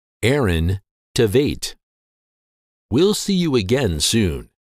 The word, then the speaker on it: Aaron Tveit: in high school his name is said or pronounced in American English as Aaron Tate Aaron Tate pretty basic now that you know once again the name of this popular actor is pronounced Aaron Tate Aaron Tate we'll see you again soon thank you